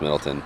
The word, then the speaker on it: Middletown: I'm one of Middletown, but it's pronounced Middleton.